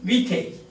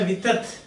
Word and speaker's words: Vitet: Vite. French critic M. Vite. So in French language, you don't pronounce the last syllable. So we don't say vitat or vitet, but we say vite.